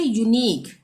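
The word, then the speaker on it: unique: उसी तरह से यूनिक, लास्ट में क्या आ रहा है, QUE, यूनिक, तो क्या उच्चारण हुआ यहाँ पे, क का, यूनिक।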